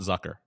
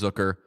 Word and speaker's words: Zucker: big pronunciation podcast uh it's zooker it's not Zucker it'ser yeah yeah fun fact it is zooker uh um the the